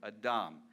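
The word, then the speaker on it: אדם: that's Adams name and how you pronounce in Hebrew a dumb it's related to the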